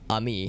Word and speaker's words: Ami: for a future reference it's pronounced ami not amy i thought it was amy humans humans talking about